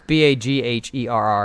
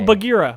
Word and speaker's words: Bagheera: How do you spell it? It's Bagherra. Oh, Bagheera.